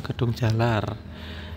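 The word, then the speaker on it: Kedunggalar: Ya, stasiun berikutnya adalah stasiun Gedung Galar. Ini yang benar Gedung Galar atau Gedung Jalar. Kalau ejaan Jawa ini Gedung Jalar ya. Kalau ejaan Indonesia mungkin Gedung Galar ya.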